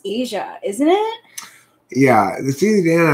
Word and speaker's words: Aja: of time but agile is also um pronounced asia isn't it yeah the cdn album is pronounced uh asia yeah that's what i thought because my dad